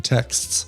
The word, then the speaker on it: texts: you want you can't you can't pronounce that second T in texts. Text. Text. You really can't. No. No. English. What are you doing English? You You cut off the X.